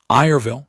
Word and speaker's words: Irville: Irville, he said, and said it correctly, which required a particular positioning of the second syllable that non-Velthera speakers usually compressed.